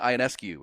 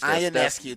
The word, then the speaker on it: Ionescu: New York Liberty guard Sabrina Ionescu against Ionescu. Thank you. I think I was mispronouncing it.